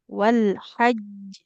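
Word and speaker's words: والحج: Nah, karena di atas jimnya ada tasdid jadi harus ditekan dulu. Wal haj. Wal hajj.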